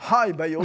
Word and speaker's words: HiBio: Alors bon, ça se prononce HiBio, ça s'écrit pas pareil, mais ça se prononce quasiment pareil, peu importe, par Biogen, montant jusqu'à 1,8 milliard, spécialisé dans les maladies auto-immunes sévères.